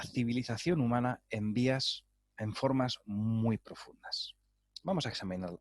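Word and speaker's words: þ: en una letra inglesa la letra form que se escribía como una p con la espina dorsal más larga por encima del bulbo y que se pronunciaba como la cee del inglés moderno esta letra fue la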